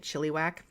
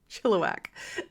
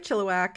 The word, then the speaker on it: Chilliwack: and which I've also been told I've been mispronouncing for all of these episodes calling it chiliwack chillak so actually spoke with a friend of